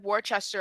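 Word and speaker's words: Worcester: they're not in boston they're in worchester on july 27th so it's rooster it i think it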